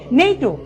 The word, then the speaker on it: NATO: আর এখান থেকে মনে রাখবো, যেমন পড়ছি নেইটো, আমি কিন্তু পড়ছি না NATO, এরকম কিন্তু পড়ছি না, আমি একটি শব্দের মতো পড়ছি নেইটো।